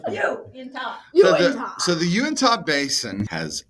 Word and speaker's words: Uinta: The Unita? Nope. Unta? Uinta. You win. The Uinta? Uinta. Uinta? Mm-hmm. I'm saying it like you. Mm-hmm. Inta? Okay. Yeah. You in top. Uinta? Uinta! Winter.